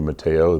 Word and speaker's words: Mateos: The S is silent in some places.